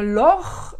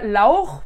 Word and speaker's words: Laure: En allemand, ça ferait Laure, ou bien Lor, ils vont pas avoir du mal. Alors Lor, c'est das Loch, c'est le trou. Donc c'est sympa comme prénom de s'appeler Trou. Et puis, ou bien Laur, puisqu'ils vont prononcer le A-U-A-O, donc Laur, c'est le poireau.